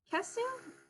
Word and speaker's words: Kesu: Is this Kesu? Is that how it's pronounced? Uh, Yeah, that's it.